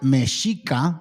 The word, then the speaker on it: Mexica: This was a time when the Mexica, pronounced Mexica, anointed, the Mesoamerican tribes were establishing their source of origin, yada, yada, yada.